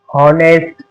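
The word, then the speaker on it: honest: अब एच कहां पर साइलेंट होता है? अगर ओ से पहले एच आए तो एच साइलेंट होगा। यानी एच से पहले एच के बाद ये देखो एच के बाद अगर ओ आया तो ओ हमारा एच जो है वो साइलेंट रहेगा जैसे और होनेस्ट ऑनर इस तरीके से अब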